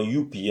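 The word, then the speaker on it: ю: Ça se prononce comme you, comme en anglais, you, tu. Alors you, I, you, etc. Les pronoms. Alors you, comme dans yoga, mais au fait c'est comme dans youpi, je dirais plus comme dans youpi, hein.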